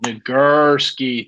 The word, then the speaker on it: Nagurski: Nagurski.